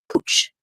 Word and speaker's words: Couch: It says couch, but it's pronounced Cooch.